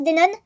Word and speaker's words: Denon: non c'est écrit Denon, mais ça se prononce Denon, donc le N se entend à la fin.